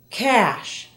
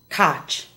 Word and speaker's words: cash: Listen to the following SH words and how they're mispronounced in Spanish. Shadow is often said as chado. Cash, not cach.